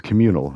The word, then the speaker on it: CommunL: But anyways, communal, and it's spelled like communal, but just like without a vowel at the end. It's just COMMUNL, I think, and the L is